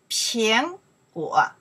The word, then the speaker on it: 苹果: 苹, 苹, second tone. 苹, 歌我, 果, the third tone. 苹果, apple.